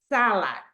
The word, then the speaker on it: salad: And the last one, it's salad. Salad, right? Like the Caesar salad, como la ensalada César, salad. So, Heidi, what's the stress syllable right here? Salad. And the first. The first one, correct.